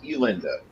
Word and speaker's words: Elinda: lenda that's elinda what her name's elinda not Linda but no she doesn't